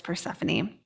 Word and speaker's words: Persephone: poor persephone conjunct pluto it's spelled porcifina but it's persephone that would be something